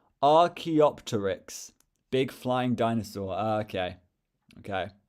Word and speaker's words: Archaeopteryx: It's pronounced Archaeopteryx. Big flying dinosaur. Okay. Okay. Thank you. Archaeopteryx.